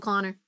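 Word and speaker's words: Konor: Spelled with a K. One N and an O. Still, it's still Connor.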